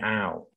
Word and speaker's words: hour: อ่ า น เ น า ะ an hour น ะ ค รั บ an hours น